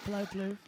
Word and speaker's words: Palou: Alex Palou, yeah, you got it right. Palou.